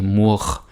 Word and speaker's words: mur: And there is again, I think there's an R, but you don't hear me say mur or skur or like mur, skur, lur. It doesn't happen, right?